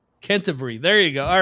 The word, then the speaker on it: Canterbury: How would you pronounce Canterbury in the UK? Yep. Canterbury. Canterbury.